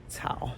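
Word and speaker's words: 草: So without the grass radicals, it's Tsao. But with the grass radicals, it's Tsao.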